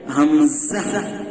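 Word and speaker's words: همزة: হামজা, টান হবে না। আমি দেখিয়ে দিয়েছিলাম যে এটা উচ্চারণের সময় কি হবে না, টান হবে না এই অক্ষর পড়ার সময়।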